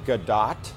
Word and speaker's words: Gadot: they go into great detail saying that it's Gadot, but then they include a link to all the times she says her own name.